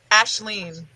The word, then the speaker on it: Aisling: Ashleen. It's completely non-phonetic.